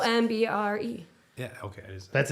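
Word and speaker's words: ombré: It's actually ombre.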